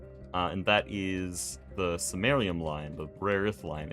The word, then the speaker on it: Samarium: It is Samarium, not Senarium or Senarium.